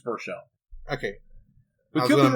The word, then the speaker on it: Baruchel: So, our main character, Hiccup, was played by Jay, and I'm going to mispronounce this, Baruchel? Is that how you say that name? Yeah, I believe it's Baruchel.